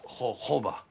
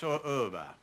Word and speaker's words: jojoba: me see the B it's spelled jooba it pronounced hoba it's spelled jooba but it's pronounced hoba why would that do something like that hob